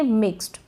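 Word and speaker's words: mixed: इसको हम पढ़ेंगे मिक्स्ड, क्या पढ़ेंगे मिक्स्ड। अब मिक्स्ड नहीं पढ़ेंगे, मिक्स्ड ट का साउंड आ रहा है, थोड़ा बहुत जो आ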